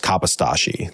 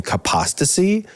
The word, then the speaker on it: Kapostashi: And the story goes essentially like, my name is pronounced Kapostashi. That's like kind of what my family says and has always said. And he, on like again, the story changes, but like on one of his first days as like a teacher, the principal, I think, or some authority figure started pronouncing his name Kapostasy.